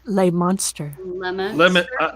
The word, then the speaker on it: Leominster: o double pronounce the m so it's it's pronounced leominster lay monster i said leominster yeah right i believe